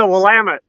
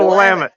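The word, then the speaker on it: Willamette: the valley he's at how do you pronounce it the Wilmont I know they have it's a wamit it's a wamit okay wow what what's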